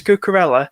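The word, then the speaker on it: Cucurella: and fun um is it cool it's like pronounced the names of bloody penguin it's cucarella uh cruella de vil um a good option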